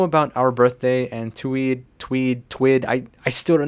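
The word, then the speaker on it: TUIDE: And I know about our birthday and Tweed, Tweed, Tweed. I I still don't know how to pronounce that.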